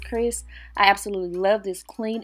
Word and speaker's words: Xrs: company called chris hair it looks like xrs but it is pronounced chris i absolutely love this